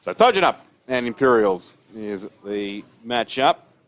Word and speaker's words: Kojonup: Tojunup K is silent replaced by a T. Thanks English language. That's all good. So Tjanup and Imperials is the matchup.